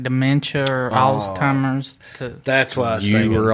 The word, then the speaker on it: Alzheimer's: Oh, there's no T. No, it's Alzheimer's.